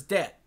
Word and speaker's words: debt: Protection, the word to remember is debt. Like, being in debt because of student loans. DEBT. Why is that pronounced debt? There's a B.